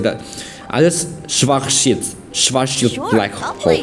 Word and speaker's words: Schwarzschild: Schwarzschild. It's Schwarzschild black hole, right? It's an R. It's an R. It's a German R. R. SCH. W is like a V. Schwarzschild.